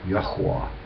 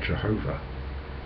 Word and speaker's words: Yahweh: We're not sure of the pronunciation of that name. I know from research it's not Jehovah. There's no J in Hebrew, Greek, Latin or ancient English. Hallelujah should give you a clue.